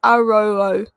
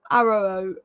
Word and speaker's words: Yoro: Someone said Ario is pronounced Aroo. Aroo, as in row, as in how. Aroo.